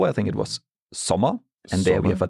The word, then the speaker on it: Sommer: For our O, I think it was Sommer, and there we have a double M. Yep. Sommer, double M, and therefore we have the short O.